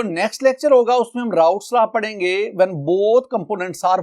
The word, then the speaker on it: Raoult: कर रहे होते हैं स्पेलिंग देख लो आर ए ओ यू एल टी कॉ एस राउट्स ल राउट्स ल तो साइंटिस्ट का नाम क्या है एफ एम राउट्स और उसने यह जो